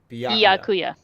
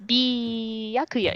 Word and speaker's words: Byakuya: c yeah yeah so just remember the letter b and then go byakuya yeah byakuya okay we did